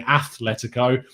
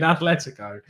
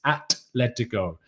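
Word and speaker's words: Atlético: as you're not saying athletico i don't mind because there's no h there's no h in atletico so i don't know where you're coming up with that it's atleticon um yonick says arteta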